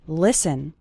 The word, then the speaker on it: listen: podcast the letter T is silent in the word listen listen listen to an English